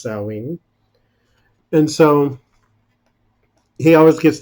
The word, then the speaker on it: Samhain: during Halloween is salween it looks like Samhain when you look at it but it's pronounced sewing and so he always